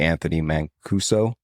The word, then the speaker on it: Anthony Mancuso: bit out of Clark County, and I might mispronounce this name, the Anthony Mancuso.